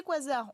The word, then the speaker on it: quasar: Alors, ces quasars, on appelle ça quasar. Pourquoi? Parce que c'est la contraction de quasi-stellar en anglais, donc quasi-stellaire, mais on a gardé la façon dans l'usage de le prononcer à l'anglaise.